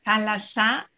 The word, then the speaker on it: θάλασσα: Antes era thalata, en vez de thalassa, de S, era ta, y se decía, se pronunciaba thalata, pero hoy en día es thalassa, es una palabra muy bonita que ayuda mucho, además.